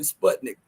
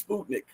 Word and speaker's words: Sputnik: interviewed by Sputnik news I finally uh realized the proper way to pronounce it is Sputnik I'm sorry all the times I've said Sputnik but it's Sputnik okay um and I